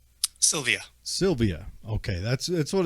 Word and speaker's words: Sylvia: how do you say your last name Sylvia Sylvia okay that's that's what it's spelled like but I wanted to make sure